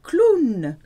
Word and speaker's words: clown: It's the same but with a French accent. Un clown.